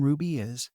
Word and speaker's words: RWBY: Team Ruby was the strongest first-year team back at Beacon. Weiss bragged. And it's spelled rwby if you're still writing things down.